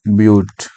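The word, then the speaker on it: but: Carbon यदि चार ठो रहेगा, इसका नाम होगा ब्यूट। बट नहीं बोलना, बट का स्पेलिंग यही होता है, लेकिन ब्यूट बोलना है इसको, ब्यूट।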